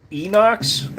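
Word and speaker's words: Inox: Beretta 92 Enox, which is actually how you pronounce it. Enox, which stands for stainless, basically, I believe, in Italian.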